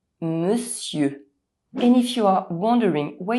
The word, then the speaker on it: monsieur: For example, instead of looking at the letters of this word and trying to pronounce them, maybe saying “monsieur” you'll see the actual sounds that combine to produce the word and you’ll pronounce it correctly: monsieur.